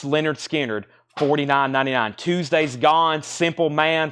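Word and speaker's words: Lynyrd Skynyrd: you've got to have this $49.99 Leonard skinnard pronounced Leonard skinnard $49.99 Tuesday's Gone Simple Man free bird give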